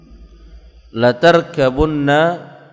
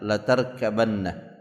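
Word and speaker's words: لَتَرْكَبُنَّ: Untuk ayat ini ada dua bacaan, la tarkabunna, dan ada juga yang membacanya dengan la tarkabanna. Tapi yang kita dapatkan di dalam mushaf itu la tarkabunna.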